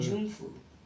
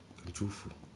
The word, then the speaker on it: Kunjufu: Kunjunfu. Kunjufu.